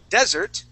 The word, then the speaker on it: desert: If we go to desert with the accent at the beginning, da-da, desert, this is a desert.